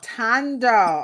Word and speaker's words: Thando: the H is silent the H is silent pronounced t o n o oh tando okay now tando is